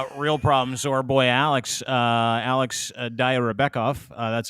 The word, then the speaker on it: Alex Dayrabekov: So our boy Alex Dayrabekov.